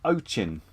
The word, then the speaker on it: Ochin: The Ochin.